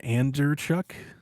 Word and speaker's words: Andrzejczyk: Is it Anderchuk? Andrzejczyk, yeah. Andrzejczyk?